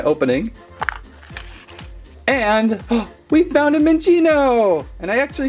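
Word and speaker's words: Minccino: find out by opening and we found a min Chino and I actually said it right finding lots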